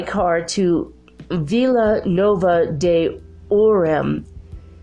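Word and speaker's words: Ourem: Who took them by car to Villa Nova de Orem. It's spelled O-U-R-E-M, in case you want to look that up.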